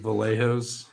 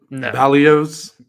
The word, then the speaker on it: Vallejos: than the spelling yeah is it vallejos it was not pronounced that way but that's what it looks like yeah it was very so it's not pronounced that way valos valos you're gonna miss me